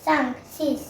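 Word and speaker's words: six: बोलते हैं सी हां यहां एक्स को एस बोला जाता है तो इसलिए उच्चारण सी से होगा और फ्रेंच में स्पेलिंग एस आई एक्स सो ये हुआ सीस उसके बाद सेप्ट सेप्ट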